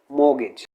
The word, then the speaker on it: mortgage: रखना, उसे बोलते हैं मोगेज। इसमें हम क्या है, आर को प्रोनाउंस नहीं करते, दिस इज केप्ट साइलेंट, तो उसे क्या प्रोनाउंस किया जाएगा, मोगेज।